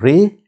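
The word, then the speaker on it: رے: the red sound okay so it's called ray it makes sound like ah in ring it's always pronounced so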